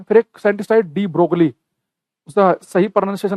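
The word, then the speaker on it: de Broglie: य हम बता है डी ब्रो साब ने य साइलेंट है जी एल डी ब्रोग लिखा जाता है हिंदी में डी ब्रो साने बताया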